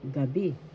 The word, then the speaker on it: gabi: First syllable ga, second syllable bi. The accent is in the second syllable, gabi, night.